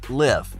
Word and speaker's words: LIV: if you're still confused it's pronounced as Liv it's going to be